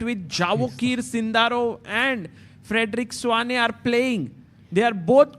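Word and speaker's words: Svane: How do we pronounce his surname, by the way? Frederick Swane, everybody Swane.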